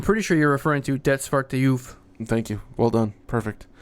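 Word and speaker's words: Det Svarte Juvet: Can you pronounce this title? I'm pretty sure you're referring to Det Svarte Juve.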